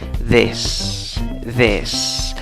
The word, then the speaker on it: this: No es la I larga, es una I corta. Esta I se pronuncia E. ¿Cómo pronuncias la palabra? This. Acaba en S, acuérdate. Y la T y la H juntas suenan como una D, pero no es una D exactamente.